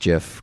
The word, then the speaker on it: gif: that creepy gif online I love that you pronounced jiff correctly but I haven't seen that she was